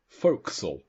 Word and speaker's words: forecastle: the forecastle, which actually on the page it says pronounced forecastle.